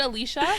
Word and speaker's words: Allyshia: Is it Alicia? Is that her name? Yeah, Alicia. Okay. But it's spelled like ALLYSHIA.